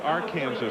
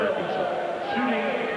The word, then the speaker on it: Arkansas: It's like there are areas that have their own special pronunciations or spell. It's like uh uh the river north of Kansas is the R Kansas rather than the Arkansas.